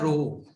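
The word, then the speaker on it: rho: Greek language का word है, और इसको प्रोनाउंस जो करा जाता है उसको कहा जाता है रोहो।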